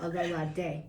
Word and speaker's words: Ololade: Say it again. Ololade. Aloladi. Lo. Ladi. Ladi. Yeah. Ololadi. A at the end. The Ololade. E. Yeah, perfect. Yay! Pronunciation is important. Ololade.